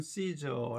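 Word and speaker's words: Caesar: 로마 황제를 움직인 것입니다 가 이사는 예 포토 영어식 발음으로는 씨저 라고 불리는 로마 황제의 이름이고 알고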